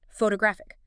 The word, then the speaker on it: photographic: Now add the eek suffix for the adjective photographic. It jumps again to the syllable right before the it.